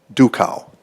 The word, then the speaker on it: Duchow: Duco. Duchow. So it's spelled D-U-C-H-O-W.